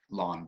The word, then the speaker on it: ln: actually notated by this lawn x is the same as log base 3 base e of x and the way that you pronounce it is just like grass lawn kind of weird but